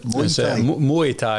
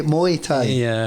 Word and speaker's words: Muay Thai: How do you pronounce it? Muay Thai. Was it Moy? Muay Thai.